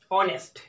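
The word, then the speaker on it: honest: এবারে তৃতীয় example, অনেস্ট। অনেস্ট যখন বলি তখন অ দিয়ে উচ্চারণ শুরু হচ্ছে, অটা হচ্ছে বাউল, যার জন্য আমরা এন ব্যবহার করব।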